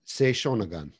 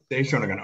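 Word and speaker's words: Sei Shōnagon: Now I'm not going to, can you just pronounce the author's name for me? Sei Shonagon. Sei Shonagon.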